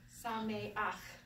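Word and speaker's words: שמח: But this changes when you have a chet at the end and the ah, it goes the other way. So you go sa, me, and you go ach. Sa, me, ach. Instead of ha. Yeah, instead of cha. So chag, sameach. So you have the ch on the beginning and the ch on the end.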